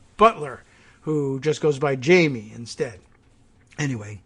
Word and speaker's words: Jaime: who just goes by jamie instead anyway it's uh it's she and that's actually quite a common spelling of jamie even though in in in spanish it's jaime but noah jamie okay